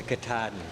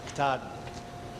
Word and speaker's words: Katahdin: I have Barry Dana, the Katahdin.